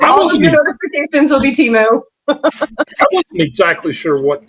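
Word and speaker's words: Temu: what Teemu even was I thought it was like Emo or emu or emo emo emotional music or whatever I say it's teu you are correct I say it's it's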